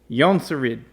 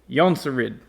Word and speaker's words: Jonsered: However, the appropriate pronunciation is Jonsered. Jonsered. The J in Sweden is pronounced like our Y.